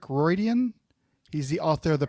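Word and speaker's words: Riordan: I always get his last name wrong, but it's Rick Roydian.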